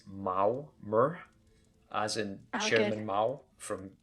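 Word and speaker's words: Maormer: give uh an official loremaster announcement that it's mao mer as in chairman mao from uh okay so that so it's it's not me mer it's mao mer or mermer like mayor like m-a-r-e it's not murmur it's maurer yeah so that we do now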